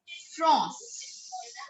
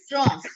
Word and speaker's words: France: But if we pronounce it in French language, we call it France. What do we call it? France.